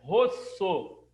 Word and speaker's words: terra rossa: e começaram a falar terra rossa. Porque o vermelho italiano, a pronúncia, tá? Vermelho é rosso, com 2 S. Aí os italianos falavam, ó, terra rossa, que quer dizer terra vermelha.